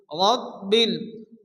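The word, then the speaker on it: رب: রব্বিল, 12 উপরে তাসদীদ, যে অক্ষরে তাসদীদ আসে সে অক্ষরটিকে দুবার পড়তে হয়। প্রথমত ডান দিকে অক্ষর সঙ্গে মিলিয়ে পড়তে হয়, এরপরে শুধুমাত্র অক্ষরটি উচ্চারণ হয়।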